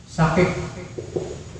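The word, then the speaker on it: شقيق: Yang pertama namanya akhun sakik. Ya, sakik. Saya rumuskan qaf ya. Sakik.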